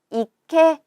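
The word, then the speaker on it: 池: 또 볼까요 그래서요 거든요 이케 라고 읽어서 연못을 나타냅니다 연못이 고요 그래서 요건은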